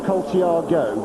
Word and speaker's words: Colciago: Now, I must just read out this Love Your Racing Weekends, persist in pronouncing Colciago's name with an I before the O. Any of his Italian brethren last go, as in go racing, so Colciago.